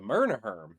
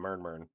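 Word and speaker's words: Mmrnmhrm: The Mumerherm, that's how you say it. I thought I always called them Mermerm.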